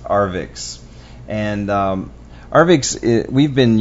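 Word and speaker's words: Arvixe: by arvik web hosting that's a RV iix E I guess the the E is silent it's pronounced arix and um arix we've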